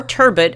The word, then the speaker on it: turbot: Or spilling seeds on his patron's perfectly prepared turbo, or turbot, as I've heard the Brits say.